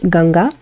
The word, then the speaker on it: Ganga: said, but it's just added about the goddess Ganga here, the river Ganges. So her name we pronounce it Ganga.